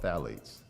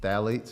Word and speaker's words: phthalates: So when you turn it on the label and you see phthalates, it starts with a P. The P is silent. But the phthalates, when you see parabens,